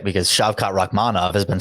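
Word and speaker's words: Shavkat Rakhmonov: should probably get my ears checked right because shot rahmanov has been said about 10 times in the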